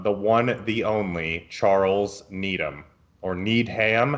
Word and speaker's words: Needham: So the first question on our list comes from the one, the only, Charles Needham, or Needham. How do you say it? Does he need ham? I think it's Needham.